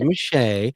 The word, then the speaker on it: Meche'tte: Machete. What is it? It's Meche'tte.